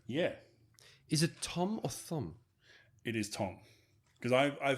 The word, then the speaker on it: Thom: People call him Tom, and in situations where I would expect him to say, hey, No. my name is Thom. So it is, Well, Tom. But yeah, Tom, forgive me. spelled with the H.